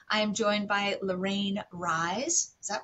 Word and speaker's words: Rise: host and today I am joined by Lorraine rise is that right is that how you pronounce that's right rise awesome so my new best friend we just